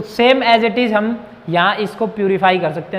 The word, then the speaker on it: Holme: होम signal, देखो होम, इसके अंदर L साइलेंट होता है। कभी आप इसको प्रोनाउंसिएशन करो इसका होल में, ये L साइलेंट होता है, तो इसको हम बोलेंगे होम सिग्नल्स।